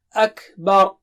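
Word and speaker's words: أكبر: Jangan baca أَكْبَر (dengan ر tipis), oke? أَكْبَر, huruf ب di sini (tipis), dan ر di sana (tebal): بَر.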